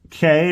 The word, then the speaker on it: Cay: Disney's brand new Lookout Cay or Key. I think it's Lookout Key at Lighthouse Point. I always get messed up by that because it's not how Key should be pronounced, but it is what it is.